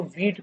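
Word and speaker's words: Vite: अब हम लोग यूज़ करते हैं वीट का, ठीक है, इसको वीट प्रोनाउंस करते हैं।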